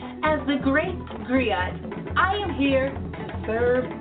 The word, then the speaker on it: griot: share that history with you agree oh it's pronounced griot or in English agree on the West African